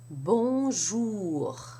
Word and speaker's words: bonjour: Bonjour. Bonjour. Now let's work on salut. In the first syllable, you have a sa, which may sound